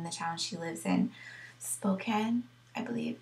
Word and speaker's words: Spokane: It's about Expo 74 that was held in the town she lives in, Spokane, I believe it's pronounced.